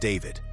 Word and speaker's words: D4VD: For those unfamiliar, D4VD, pronounced David, is a breakout musician known for turning heartbreak and raw emotion into viral songs.